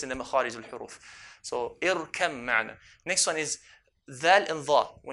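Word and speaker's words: ارْكَب مَّعَنَا: We merge the ba onto the mim. So irkam ma'na.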